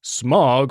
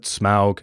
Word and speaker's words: Smaug: most iconic modern dragons is smog from JRR Tolkien's classic novel The Hobbit no I don't pronounce it Smaug that's too fancy dragons also appear in